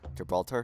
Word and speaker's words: Gibraltar: Is it actually really pronounced it? Gibraltar? Yeah. Gibraltar.